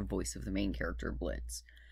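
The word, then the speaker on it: Blitzø: of the main character Blitz. The O is silent.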